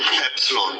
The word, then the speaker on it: epsilon: How it is pronounced? Epsilon.